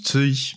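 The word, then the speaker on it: Cixi: Et en fait, Sixi, ça se prononce Tsui, parce que c'est le nom d'une impératrice chinoise du début du 19e siècle.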